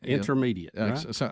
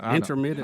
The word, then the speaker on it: intermittent: while intermediate is it is it intermediate intermittent I said it that way how you say it intermittent intermittent that's it yeah but if you're